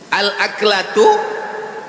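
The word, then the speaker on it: الأكلة: Al-aklatu bifathil hamzah. Cara membacanya hamzahnya baris atas A.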